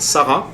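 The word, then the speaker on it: Sarras: village which is called Sarah but you write it s a r r a s and then in Sarah which is 10 km north of K you don't pronounce the S anymore and then when you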